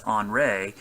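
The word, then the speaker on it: Henri: move near the u.s the other storm is on ray which is you know the french term for henry it's on rey so it's kind of a weird pronunciation but it's the french version um this is going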